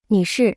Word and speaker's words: 女士: 女士女士是 Se pronuncia con el cuarto tono. Hablemos un poco sobre la diferencia entre 女士、 y.